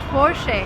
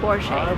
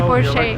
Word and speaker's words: Porsche: the car is called forshay and that's the right way to pronounce it because it's a German name the stress goes to the first part of the word and we say for she will remember never say